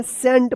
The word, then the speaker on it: scent: SCENT इसको क्या पढ़ेंगे सेंट पढ़ेंगे, यहाँ पे सी जो है ना साइलेंट रहेगा, ठीक है।